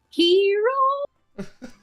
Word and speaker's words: gyros: believe the term is Gyros is it not yes but it's pronounced hero yes but I've heard